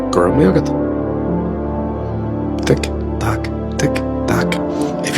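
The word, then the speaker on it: go raibh maith agat: Is it A, let all, or is it B, Gurm Yogat? Tick, tock, tick, tock. If you said answer A, you need to check your memory. Memory. The correct answer is B, Gurm Yogat.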